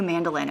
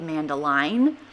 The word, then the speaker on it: mandoline: here's my fun new mandolin am I saying that right it spelled like it should be man Deline but I don't think that's how anyone ever says it anyway I really like